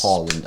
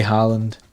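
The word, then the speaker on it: Haaland: to see his links with is harland yes holland as it's correctly pronounced too fair though in that interview where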